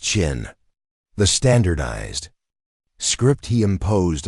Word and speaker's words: Qin: The name China itself is derived from the name of his state, Qin, pronounced Qin.